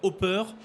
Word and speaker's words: Opper: Alors Hopper, ça s'écrit O-2-P-E-R.